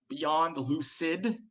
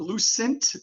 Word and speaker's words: Beyond Lucid: have small aspirations like people knowing how to pronounce my name I want to make sure it's not Lucent there is a Lucent